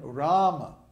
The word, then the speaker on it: Rama: And then in Rama, Ram, the first A in Ram is long. So it's held for two beats ra. And then the A in ma is short. So it's ra.